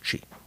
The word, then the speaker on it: chi: Chi, with sort of a second reverberation of the eye, or no? Chi, just one. Just chi.